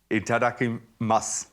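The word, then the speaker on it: いただきます: Itadakimasu. So I notice when it's spelled with a U, masu, do you just say mas? You don't say the U? Yes. You kind of swallowed the U.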